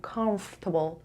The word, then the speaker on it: comfortable: وقتی که میخواین پرونانسش بکنید به این صورت تلفظش کنین comfortable. انگار اینجا یه آر اضافی داریم.